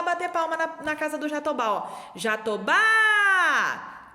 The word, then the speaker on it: jatobá: forte também foi então o jatobá tem o mesmo são zinho que o baobá a sílaba mais forte é a última lá oba-oba jatobá e